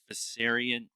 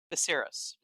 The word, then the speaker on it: Viserys: All the swords on the throne, they made a good point of showing Viserys, uh, Viserion. I'm going to say it wrong every time. Viserys. Theris. There's no N in it.